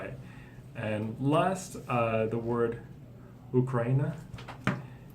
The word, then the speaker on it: Ukraine: It's kind of strange, but in English we say Ukraine. Ukraine. Yeah. But every other country in the world says it with oo. So it's just English that we say it wrong. We say it wrong, but it's the correct way to say it in English.